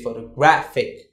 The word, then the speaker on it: photographic: And when you say photographic, you say photographic.